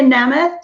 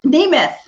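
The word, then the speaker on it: Nemeth: got um that's maria namath nimith oh i said her name wrong for so many years that she never corrected me until just recently anyway she's a lovely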